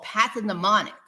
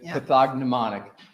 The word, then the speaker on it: pathognomonic: representative but they call Path demonic meaning that there is nothing else that causes those let's focus on the word people pronounce it differently pathognomonic what does pathognomonic mean